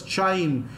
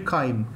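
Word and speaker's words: chyme: I told you remember I used to love pronouncing this as chime. The reason is my spelling will not go wrong. But the actual pronunciation is actually kind.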